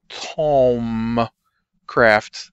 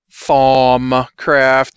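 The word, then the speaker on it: Thaumcraft: not a tricky word it just spelled like you wouldn't expect it to be pronounced it's t h u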